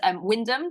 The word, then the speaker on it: Wymondham: So just the other day, there's a town just outside of Norwich called Windham, but it's spelt Windmondham, so that's how I pronounce it.